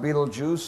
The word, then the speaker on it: Betelgeuse: Pronounced Betelgeuse, spelled Beltegeuse. Betelgeuse, the gigantic star in the shoulder of Orion.